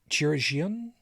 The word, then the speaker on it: chirurgeon: You say it's pronounced Bartholomew. No. No, it's Bob. Chirurgeon.